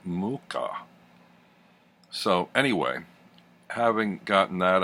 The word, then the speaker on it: Mucha: always been pronounced it Musha or Mucha and it turns out he's actually check and the pronunciation according to his grandson who had done an online interview is Mooka so anyway having gotten